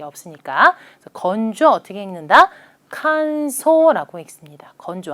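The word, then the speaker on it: 乾燥: 칸소라고 읽습니다. 건조 한 번 더 칸소라고 읽는다.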